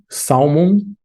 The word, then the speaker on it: salmon: Salmon. This word, it's common to want to pronounce the L, but actually salmon.